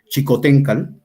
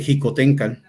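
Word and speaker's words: Xicoténcatl: chicoteca Generalmente lo escribe se escribe con x y como nos hemos acostumbrado a que la x va a j uno dice xico tenca y quizás por eso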